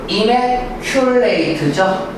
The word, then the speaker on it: immaculate: 자, 답이 뭘까라고 했을 때, 답은 immaculate죠. immaculate. 자, immaculate 한번 봅시다. immaculate. 조금 발음을 변형하면 immaculate죠. immaculate. immaculate. 됐죠? 우리가 AT 발음이면 AT로 끝나는 것은 동사일 때는 AT로 발음이 돼요. 형용사나 명사일 때는 IT로 발음됩니다.